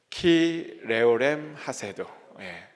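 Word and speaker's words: כי לעולם חסדו: 오늘 같이 첫 번째로 나누고 싶은 히브리어 문장은 그 인자하심이 영원함이로다 라고 하는 문장인데요, 이 문장의 히브리어 발음이 키레오렘 하세도라는 그런 발음입니다. 한번 우리 다 같이 한번 해볼까요? 키레오렘 하세도, 이렇게 있습니다.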